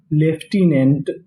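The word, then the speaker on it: lieutenant: और आगे लिखा है एल आई ई यू टी ई। इसे हम लोग यहां पे पढ़ेंगे लेफ्टी। क्या पढ़ेंगे? लेफ्टी। ये हमारी बिल्कुल अजीबोगरीब मीनिंग है।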